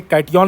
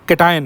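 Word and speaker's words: cation: इसी तरह से कैटियन नहीं है बच्चों, केटाइन है, ध्यान रखिएगा।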